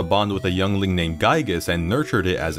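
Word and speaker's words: Giegue: with a youngling named geigis and nurtured it as its mother yeah it's gigas not gaba ghoul or however the you're supposed to pronounce this after remembering all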